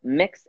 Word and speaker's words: Mx.: a lot of folks don't know how it's pronounced mix is pronounced mix as in mix you like a cake we are talking about